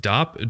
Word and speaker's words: Dopp: It's pronounced dopp. Did my pronouncing wrong? Oh, dope kit.